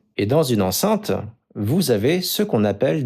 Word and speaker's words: enceinte: Ça, c'est ce qu'on appelle une enceinte. Ça s'écrit et ça se prononce de la même façon qu'une femme enceinte.